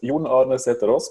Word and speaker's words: Jon Arne Sætherøes: Yeah, so in Norwegian, it's Jon Arne Sætherøes, but you were pretty close.